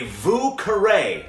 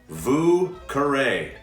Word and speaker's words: Vieux Carré: This drink is called a Vieux Carré, spelled like this. Vieux Carré. Yes, French again.